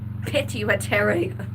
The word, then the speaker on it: pituitary: And he possibly will say something of how I pronounce pituitary because it is not pituitary. There is no a. It is pi t pit pituitary. But I've tried to